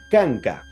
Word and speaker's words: kanka: consonante K se pronuncia tal y como suena como K En otras palabras estamos hablando de que el punto de articulación sería velar se encontraría en el velo del paladar ahí se va a pronunciar la consonante K por ejemplo voy a